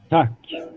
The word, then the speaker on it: Tack: Tack.